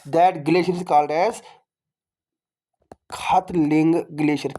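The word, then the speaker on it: Khatling: That glacier is called as खतलिंग glacier. के एच ए टी एल आई एन जी। आप ये आप देखो प्रोनाउंस कैसे करोगे आप? इट is called as खतलिंग glacier.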